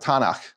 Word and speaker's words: Tanakh: The Hebrews wouldn't pronounce it tunk. They pronounce it Tanakh.